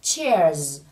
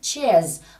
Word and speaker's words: chairs: Và trong bài dùng dạng số nhiều nên mình thêm âm SC và phát âm là Z ở đây là chairs. Say it again, chairs.